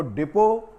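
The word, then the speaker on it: depot: की स्पेलिंग क्या है इसको डिपो पढ़ा जाता है लेकिन इसका अर्थ जो है स्पेलिंग यहां पर साइलेंट होता है और यह हुआ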